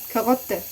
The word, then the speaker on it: Karotte: Karotte. Te. Rot. Rotte. So it's also in the back. R.